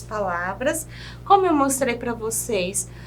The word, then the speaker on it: você: E a palavra você, nós temos um acento circunflexo. Na minha época, a professora chamava de chapeuzinho. O você vai trazer aí um tom mais fechado para a letrinha.